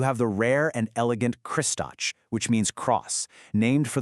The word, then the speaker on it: Kristač: And then you have its complete opposite, Kristač, pronounced K-R-I-S-T-A-T-C-H.